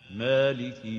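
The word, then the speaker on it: مالك: So A is wrong, A is right. The proper way of pronouncing it is Maliki. Maliki.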